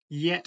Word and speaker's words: get: look like get killing I'm told it should be pronounced yet Shilling which is almost appropriate